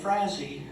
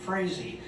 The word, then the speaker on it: Frazee: on the right and he was much stuff Frazee Frazee i'm sorry i mispronounced it crazy and i think of him as hairy crazy